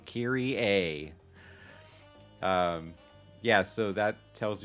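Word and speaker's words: Kayrie: r i e so I spelled it this way because I want people to pronounce it correctly so Kiri a um yeah so that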